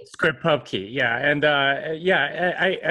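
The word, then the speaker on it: scriptPubKey: two a locking script or how do you pronounce that script Pub Key script Pub Key yeah and uh yeah I I can go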